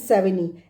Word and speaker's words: Savigny: वी ए एन वन सेविनी एस ए वी आई जी एन वाई एस ए वी आई जी एन वाई ji silent है इसमें सेविनी बोलेंगे इसको Karl Frederick one सेविनी